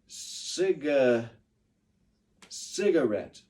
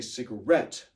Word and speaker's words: cigarette: we'll try it again many of you said Sega cigarette that's not the right syllable to put the stress on that word see try to say cigarette all together say cigarette